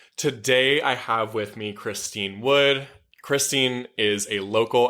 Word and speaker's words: Christynne: My name is actually pronounced Christynne, T-Y-N-N-E.